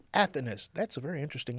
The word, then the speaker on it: Athanas: How do you pronounce that last name again? Athanas. Athanas.